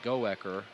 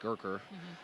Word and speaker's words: Goecker: It looks like Goecker, but Coach Meyer says it's pronounced like Gurker.